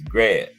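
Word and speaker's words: Greb: Harry grab you know you spell it GB I was saying greed but Bruce gar said it's grab so you know Bruce gas I'm GNA take Bruce gas's word for it the life from career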